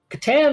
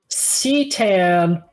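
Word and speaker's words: C'tan: Katan is spelled C apostrophe T A N. Alternate pronunciation of katan is satan or satan.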